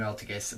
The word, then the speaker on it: Altergeist: And then Altergeist Manifestation, yeah, that's how you pronounce it. Normal trap, activated by targeting one Altergeist monster in your graveyard, special summon it in